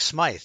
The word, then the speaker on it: Smythe: Frank Smythe, I guess it was. I guess that's the way you pronounce his name. He saw. Smythe, yeah.